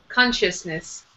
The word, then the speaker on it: consciousness: Consciousness. Yeah, so first syllable strong.